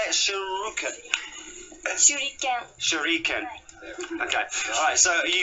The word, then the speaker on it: shuriken: Shuriken.